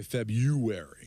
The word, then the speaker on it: February: It's spelled February. But we all say February. Right. Well, I never pronounced the R.